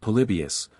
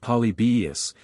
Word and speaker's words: Polybius: Tran and The antonines Stumbling at polybius pronounced polybus and supposed by Mr